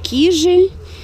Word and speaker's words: Кижи: сами понимаете, не русские, то привычнее все-таки и правильнее ставить ударение на первый слог. То есть кижи, кивач и вот как вариант, значит, гирвас, в который мы едем.